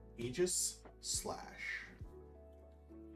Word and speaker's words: Aegislash: Purloin, Cyclozar, ooh, Aegislash. Aegis Slash. Say it right or get cut.